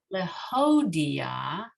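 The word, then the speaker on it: להודיע: with the hay and here with the hay. They're a hay, not a chet. So lehodia. The Chodia, yes. Lehodia. The Chodia. So you're still having back of the throat sound. You just want to open the hodia. The Chodia. There it is, right.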